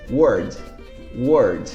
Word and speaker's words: word: mundo World Olha a diferença de pronúncia vou pronunciar de novo como se diz falava em inglês Word Word se você quiser repetir comigo e como se